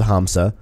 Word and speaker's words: hamsa: up that word day make sure that the H was pronounced other than silent like not in Spanish yes I did I did I did look up the word hamsa to make sure I'm pronouncing it right you're welcome but beside